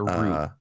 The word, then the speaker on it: route: a route, not a route. Kentucky Route Zero. Route, yes. Not Kentucky Route Zero. It is pronounced route. Root is a root of a tree. Route is like a road or a path.